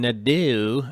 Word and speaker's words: Nadeau: The EAU and Nadeau is pronounced O in French. Like, oh my God, it's crazy to write the sound O.